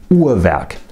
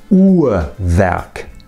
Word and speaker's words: Uhrwerk: Now, I pronounce it Uhrwerk. The second R you can hardly hear at all because that syllable isn't stressed, but the first R is a vowel. Listen again. Uhrwerk. Uhrwerk.